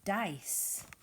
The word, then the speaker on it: dice: Our next word is a pair of dice. Finger stretch, dice. D-I-S, dice. D-I-S. Silent E at the end makes that I say I.